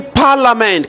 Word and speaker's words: parliament: We say parliament. Can you not say parliament? What is silent? The I is silent.